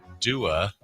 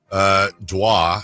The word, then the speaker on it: Dua Lipa: Dua, I believe is how it's pronounced.